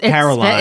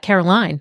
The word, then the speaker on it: Carolyn: you pronounce that Caroline. Yeah. At least I do.